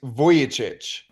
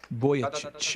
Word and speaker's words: Vujicic: how are you sir I'm good uh the pronunciation is voyich voyich everybody say with me now voy chit if you're in your car right now you're